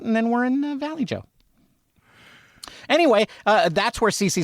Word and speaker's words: Vallejo: I mean, like you can't pronounce the l's one language and then the j in the other language and just say, "Oh, that's right."